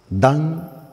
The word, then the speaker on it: Dan: Qué significa Por qué se le puso dan dan así como lo escucha d a n dan